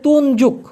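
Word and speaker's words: tunjuk: কি দেখুন মালয়েশিয়ান ভাষায় তুনজুক টি ইউ এন জে ইউ কে উচ্চারণটা হচ্ছে তুনযুক তুন যুগ এই তুনযুগ মানে হচ্ছে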